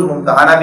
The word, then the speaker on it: ممتحنہ: ممتحن یعنی امتحان لینا۔ اس کا ایک تلفظ ممتحنہ بھی کیا جاتا ہے۔ تو بہرحال یہ